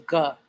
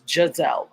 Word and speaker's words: Giselle: way it was spelled I thought it was gut it's Judds L okay thank you thank